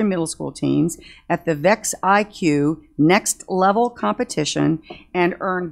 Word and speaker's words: VEX: to purchase robotics equipment is it do you pronounce it vex IQ or is it it is vex okay was this the letter's vex IQ kids